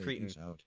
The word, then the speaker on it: cretin: Wait, isn't it, I think I'm pretty sure it's pronounced cretin.